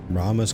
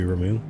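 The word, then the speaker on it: Ramuh: Titan Phoenix from what we saw Rama's crystals here or Ramu they keep changing how to pronounce it in this game it seems to be Ramu what's this crystal Isn't it?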